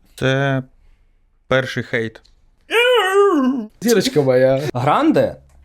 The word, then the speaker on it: Grande: перший хейт Зірочка моя Гранде тобто на а наголос а вона каже Гранде тому що це більш американізм і ну вона вона змінила